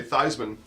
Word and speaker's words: Theismann: In his senior year, they changed the pronunciation guide to say Theismann, and Theismann for Heisman.